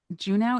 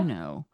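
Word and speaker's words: Juneau: Is it Juno? Is that how you pronounce it? Is that not how you pronounce them? I don't know. I think I always thought it was Uno. Uno. But obviously it's not.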